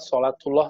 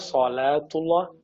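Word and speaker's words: صلاة الله: salatullah salamullah solatuwloh salamuwloh ini banyak orang bacanya Salah solatuloh salamuloh yang benar solatuwloh salamuwloh Kesa yang kedua ala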